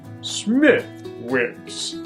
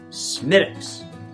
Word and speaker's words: Smithwick's: This is not Smithwicks. It's Smithwicks.